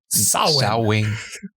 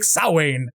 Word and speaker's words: Samhain: favorite thing is to criticize people who say Samhain, because that's not how you say it. In Celtic, it's something like Samhain. Right? Yep. Samhain. So get off your Samhain or your Samhains or your whatever, because they're all wrong.